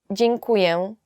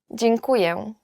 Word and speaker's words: Dziękuję: Dziękuję. Thank you. Dziękuję. Dziękuję is just thank you. Yet it's quite difficult to pronounce.